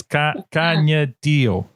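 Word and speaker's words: Kaniehtiio: She goes by Tio, but it's Canyadio Horn.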